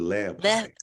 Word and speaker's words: Leapai: Leapai. How'd I do? You did great. You did great. Really? Yeah, the E is actually pronounced E, so it's a Leapai.